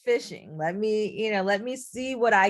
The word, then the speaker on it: phishing: So it's phishing when literally it's spelled PH, but it is phishing.